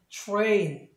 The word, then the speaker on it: train: 뭐 기차도 트레인이라고 하는 게 아니라 T 다음에 R이 있으니까 구개음. 그래서 이 T를 치로 발음하시면 되겠습니다. 그래서 train 이렇게 발음하시면 되겠습니다.